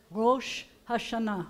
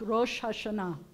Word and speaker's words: Rosh Hashanah: The new year is Rosh Hashanah, Rosh Hashanah. So you've got a resh, and you have an aleph, and I am not going to lie to you. The aleph is silent in this, but it's not really